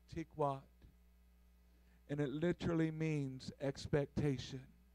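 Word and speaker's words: תִּקְוַת: Can I tell you today that the Hebrew word for line in this passage is pronounced tikwat?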